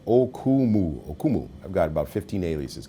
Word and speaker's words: Okumu: My name is phonetic, Okumu.